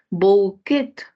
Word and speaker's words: bouquet: le puede colocarle Okay bouquet del francés la terminación en t no es una característica del español por lo que se ha eliminado y la secuencia ou tampoco en pronunciación es como u entonces la RAE lo